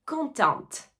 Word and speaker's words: content: contente je suis contente attention dans mon cas je vais prononcer le T parce que je dois rajouter un E qui marque le féminin je suis contente mais si tu es un homme tu vas dire je suis suis content puisque tu ne vas pas écrire le E et donc le T qui termine le mot ne va pas se prononcer je suis contente je